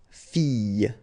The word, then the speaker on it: fille: So you've got I, and in that case, well, you will have to pronounce I and then the y. Okay, so you get fille, fille. All right, next example is papillon, papillon. Okay, so you have to pronounce this I.